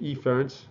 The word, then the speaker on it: efferent: the efferent okay and i say efference okay emphasize the e there which is essentially like